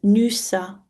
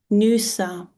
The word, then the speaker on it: Nysa: Nysa in the attic is Nusa. Nusa.